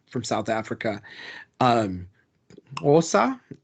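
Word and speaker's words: Xhosa: Osa, or like most people who can't speak it would say Kosa, but like in some,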